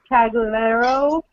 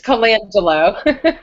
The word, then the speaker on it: Colangelo: My co-host is the beautiful and lovely Cagliero, how do you say your last name? Oh, it's Colangelo. Colagio. I knew that. I was reading it, and I said Cagliero.